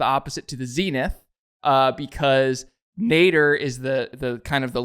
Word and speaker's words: nadir: So the word of the day today is nader. Not Ralph, but, you know, nadir. It's spelled Nadir, and that is defined as actually, it's more traditional use.